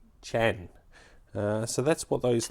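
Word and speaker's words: qian: chin chin uh so it's spelled q i a n but it's pronounced Chan uh so that's what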